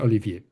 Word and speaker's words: Olivier: Uh, the other one, the most common, is just to skip the high and say Oliver. Hmm. And some of them, succeeded in saying Olivier.